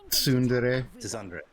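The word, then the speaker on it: tsundere: She's a uh how do you pronounce it? to Sunundre or something like that. Yeah, Sundre. It's Sundere.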